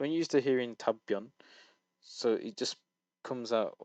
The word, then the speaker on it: 답변: It's 답변. 엄마의 It's 답변. it goes into a tense consonant on the second, but you also kind of pronounce the consonant here.